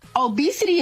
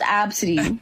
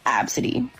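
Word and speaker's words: Abcde: I just think it's so funny because obesity is wild. It's pronounced Absidy. A-B-C-D-E, Absidy.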